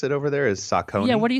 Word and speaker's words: Saucony: you pronounce it over there? Is Saucony?